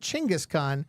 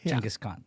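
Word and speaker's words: Genghis Khan: you out there uh Dan thinks that you said chingus Khan uhuh um it's pronounced chusan uh okay sure that's uh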